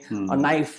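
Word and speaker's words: knife: psychology में, tsunami में, नाइफ में के साइलेंट है, या फिर बीच का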